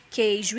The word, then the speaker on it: queijo: pronunciada veja alguns exemplos queijo e 15 guerra e guilherme desde a gente queijo e 15 a gente não escuto a pronúncia né quando a gente quando